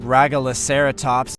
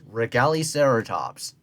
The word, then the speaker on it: Regaliceratops: Its scientific name, Regaliceratops. A better way to pronounce it is Regaliceratops.